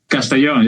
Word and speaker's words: Castellón: Castellón? Castellón, yeah.